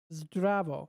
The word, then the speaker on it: zdravo: You know, we say hi, hello, salut, hola, guten tag, or zdravo, right? Wait, is that how it's pronounced? I'm looking at the word itself. Zdravo. Zdravo.